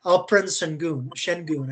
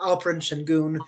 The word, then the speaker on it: Alperen Şengün: Alperen Şengün, I think is how you pronounce his name, actually. Alperen Şengün was their leading scorer, as well as averaging 9.3 rebounds, 5 assists.